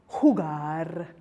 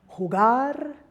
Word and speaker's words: jugar: Rule number 2, if a word ends in another consonant other than N or S, then the last syllable is accented. And a lot of verbs would qualify for this, like comer, jugar, and bailar. So I'll say that again, jugar, comer, bailar.